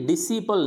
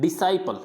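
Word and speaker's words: disciple: फिर इसको अब जैसे ये डिसिपल नहीं होता है, अपन इसको डिसिपल पढ़ते हैं, डिसिपल गलत है, ये क्या पढ़ा जाएगा, ये यहाँ पे द नहीं है, यहाँ पे ड, इसको ड करना है। डिसाइपल, इसको पढ़ना है डिसाइपल, क्या पढ़ेंगे इसको, डिसाइपल।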